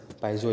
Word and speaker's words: piezo: Option है पीजो electric effect, addition effect, photo electric और Johnson प्रभाव। तो ये भी आपको ध्यान में रखना है। पाइजो इलेक्ट्रिक इफेक्ट होता है, स्पेलिंग हो जाएगा PIEZO, पाइजो इलेक्ट्रिक इफेक्ट।